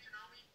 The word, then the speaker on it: Janome: Is that how you say Janome? Yep, that's how it's pronounced, Janome.